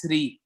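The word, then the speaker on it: श्री: different way of pronouncing it's a different way of pronouncing you three or three you know in the context normally this is three like for example if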